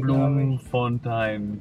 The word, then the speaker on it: Bloemfontein: Ja, so wird es ausgesprochen, Bloemfontein, Bloemfountain.